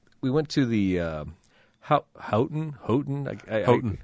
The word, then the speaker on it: Houghton: Houghton. Yeah, they pronounce it Houghton, I believe.